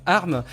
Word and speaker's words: ARM: Apple avec les processeurs ARM donc je prononce bien arm puisqu'on m'a déjà dit qu'il fallait pas que je dise arm donc je je me